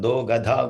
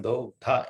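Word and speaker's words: दोग्धा: It is not Do Gadha Gopal. Dogdha is different. Do Gadha is in Hindi, you all know, isn't it? Dogdha is, should be careful when we pronounce in Sanskrit.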